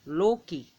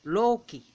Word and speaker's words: Loki: Like if you look at Loki, it's actually Loki. You want emphasis on that O, Loki.